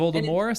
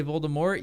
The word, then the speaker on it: Voldemort: ever because they don't say it, they don't write it, And some people say and it, Voldemort. Some people say Voldemort.